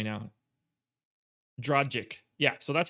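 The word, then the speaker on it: Dragić: around from tyler hero you're like the only one that pronounces dragach's name properly so i didn't that was a thing on our shows last year i can't even say it the wrong way now dragic yeah so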